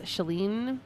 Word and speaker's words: Chalene: in the universe um my name is chalene i go by because it rhymes and it's like a way to get people to pronounce my name properly i'm not really mean